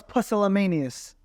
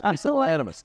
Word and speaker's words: pusillanimous: I don't like when my girl's pusillanimous. Pusillanimous. It's pusillanimous.